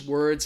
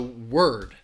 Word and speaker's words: word: Again, both of these words have one syllable. And I think that L is in the middle world. That's where I think, again, you just really have to listen for it. So word. You hear that one syllable, word. Versus world.